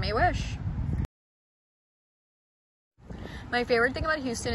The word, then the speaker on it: Mehwish: My name can be pronounced by putting the month of May and the word wish together and you get Mehwish.